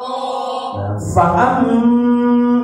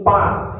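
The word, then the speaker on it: ف: Sebelumnya fa, fifu, penyebutan huruf fa yang memiliki sifat hamaz. Jangan hanya berbunyi pa, tapi kudu ada angin yang keluar.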